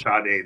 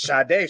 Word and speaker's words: Sade: It's actually pronounced Sade though. That's Sade.